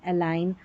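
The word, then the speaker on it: align: जी एन जब भी साथ में आएगा न पढ़ेंगे क्योंकि एन का उच्चारण है और जी यहां पर साइलेंट है। देखिए ठीक है? जी साइलेंट साइन डिज़ाइन एलाइन और रिजाइन जी एन दे रखा है।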